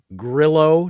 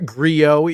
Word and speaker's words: Grillo: as played by Frank Grillo, not Griot, even though I want it to be Griot. It's not, though.